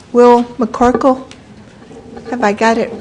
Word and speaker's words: McCorkle: Our final speaker for the evening, I hope that I am pronouncing it right, Will McCorkle.